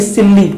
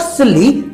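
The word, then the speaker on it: silly: इट्स नॉट सिल्ली, इट्स सिली। Rule वही है कि इनमें से एक अल्फाबेट को प्रोनाउंस करना, एक को नहीं।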